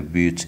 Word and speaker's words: bu: in English and le but in French. This word is pronounced bu, bu, there is a high tone on the vowel u, bu.